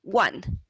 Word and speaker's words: one: Si fuera regular, debería de sonar como own, pero si le pones una B, pones una como bone, pero cuando leemos esta palabra es one.